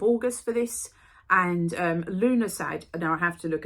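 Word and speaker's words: Lughnasadh: the 1st of August for this and um Luna side now I have to look at this is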